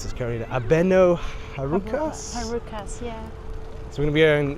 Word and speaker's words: Abeno Harukas: to be going up the how do you pronounce this car abeno harukas heras yeah so we're going to be going